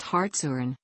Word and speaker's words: Hartshorne: Hartshorne, pronounced Hartshorne, is a city in Pittsburg County, Oklahoma, United States.